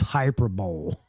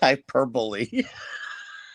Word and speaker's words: hyperbole: He lives with an English teacher and uses Hyper Bowl. You're right. He does. He did. He say hyper. You didn't say it right. Hyperbole.